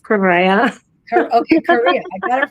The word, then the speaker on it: Correa: Well, we say Korea, but it's pronounced Correa.